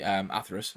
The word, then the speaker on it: Atheris: And then for the AWP, I have my STATTRAK Atheris, which I actually found out is should be pronounced Atheris, I think. So there you go. Pronounced it incorrectly the whole time.